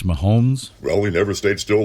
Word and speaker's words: Mahomes: the kansas city chiefs ransacking chiefs quarterback patrick mahoney can we just um pronounce it correctly it's mahomes well we never stayed still long enough for